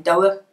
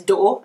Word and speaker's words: door: So I think I've told you about West Bromwich speakers maybe saying doer. If you go to Dudley, to Netherton, to Briley Hill, you might get doer. And most people nowadays, having been through the school system, will know that the standard pronunciation is door, and they will use that as appropriate.